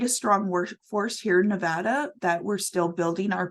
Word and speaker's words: Nevada: to hear and I apologize if I said Nevada I know it's Nevada so I know that's a very particular uh thing for for Nevada so I want to make sure that I'm uh pronouncing that properly so um next week